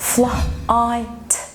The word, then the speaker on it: flight: flight flight. الجي اتش سايلنت مش موجودة اصلا.